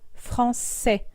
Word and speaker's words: français: O o la U, notifica que se pronuncia S y no que. Por ejemplo, en la palabra français, francés. Vamos a repetir cada letra una vez sola y una vez en grupo.